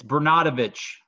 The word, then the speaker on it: Bernatovicz: pronounce your last name correctly how do you pronounce it it's Bru not a although at every holiday whenever my family gets